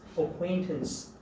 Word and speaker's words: acquaintance: 이게 acquaintance라고 발음해요. acquaintance.